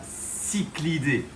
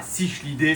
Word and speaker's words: cichlidés: Alors, ok, vous le savez tous, c'est bien cyclidés. C'est pas cichlidés, c'est pas chichlidés, c'est cyclidés.